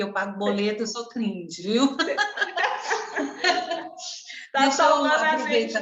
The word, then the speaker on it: cringe: Não é gringe? Fala aí o jeito, tem um nome, o jeito certo de falar. Professora, é cringe.